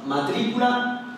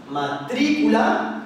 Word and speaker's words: matrícula: Pues aquí tenemos dos ejemplos, matrícula y rápido. Y como podemos ver, la sílaba fuerte o sílaba tónica es la antepenúltima, matrícula y rápido.